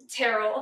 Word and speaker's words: Tyrrell: Today, my guest is a dear friend of mine, -Tyrrell. Did I say it right? It's pretty close, Tyrrell. Tyrrell, okay, there you go.